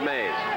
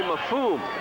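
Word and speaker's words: Mfum: name is willie and it's not maze and it's willie mafume that's right m-f-u-m and he did it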